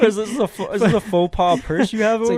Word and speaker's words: faux pas: Faux pas is the correct way to say that.